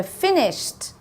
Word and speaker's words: finished: So finished, t, finished.